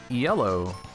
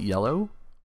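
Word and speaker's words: Iello: um one game from i guess it's called yellow but it's spelled i-e-l-l-o we would call it yellow but i i okay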